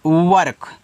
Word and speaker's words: work: चलो WORK, इसको पढ़ते हैं वर्क, इस तरीके से वर्क। इस देखो W से वाह हो गया, इसका उच्चारण नहीं हुआ है, आर और के आपस में सटे हैं तो आर क्या होगा, आधा होता है।